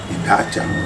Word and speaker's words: Idacha: Ce qui veut dire qu'on ne prononce plus Ida Ocha, mais on prononce facilement Dacha. Idacha.